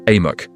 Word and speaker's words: AMOC: Luckily, we can call it AMOC, pronounced AMOC.